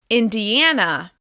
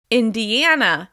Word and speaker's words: Indiana: Moving on, Indiana. Indiana. As you can hear, this is stressed on the third syllable.